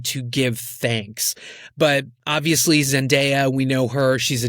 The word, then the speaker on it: Zendaya: It's Zendaya. Zendaya, you or gotta say it right. I used to call her like Zendaya. Like I just like to fancy it up. But apparently her name derives from Shona. That is the Bantu language spoken by the people of Zimbabwe and Mozambique.